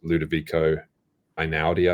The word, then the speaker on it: Ludovico Einaudi: When I was writing the Nevernight books, I was listening to a guy named Ludovico Einaudi, I think it's pronounced.